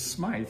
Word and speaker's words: Smythe: So Hudson, is it Smith or Smythe? It's Smythe. Smythe.